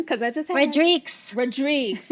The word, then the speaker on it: Rodrigues: Rodrigues. It's not Rodriguez. Rodrigues. Rodrigues.